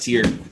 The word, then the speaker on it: Tyr: But anyway, our matches for tonight, as we said, is going to start off with H-Jax AI versus Tier. So why don't we, it's pronounced Tier.